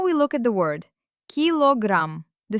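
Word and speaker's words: килограмм: There stands an unstressed o, which turns into a, la. Connecting them, kilogram, pronounced as kilogram. Brilliant. Five points. We write k i l o gram, but we pronounce it absolutely naturally, kilogram.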